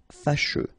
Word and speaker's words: fâcheux: So final X not pronounced, and then you get your combination of U, E. Fâcheux.